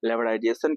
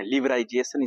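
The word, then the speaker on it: liberalization: हम लोग है ना लेवराइजेशन के नाम से जानते हैं, है ना, लिबराइजेशन इसको बोला जाता है ना, थोड़ा सा प्रोनाउंसिएशन में गलती हो जाता है ना।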